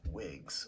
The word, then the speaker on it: Wigz: Eventually, it is figured out that he is tethered to his cosmic version of himself, dubbed Wiggs, which is spelled Wigz, and it's spaced out with stars.